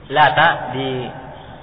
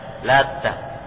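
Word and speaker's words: اللات: Jadi Lata di takhfif, diperingan taknya, tidak ditasydid Lata. Dan bisa juga dibaca ditasydid taknya, dibaca Lata.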